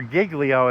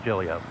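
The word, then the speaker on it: Giglio: I don't know what Jillio put in the put in her report. Okay. It female. Officer Jillio. Yes. or Gigglio if you want to do the southern version.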